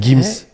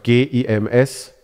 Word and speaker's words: Gims: Gims.